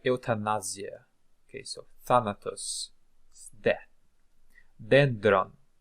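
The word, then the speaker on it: δένδρον: death see like eutanasia okay so thanatus death dendron dendron dendron is uh a tree tree like this okay dendron mus mus mus I think you can guess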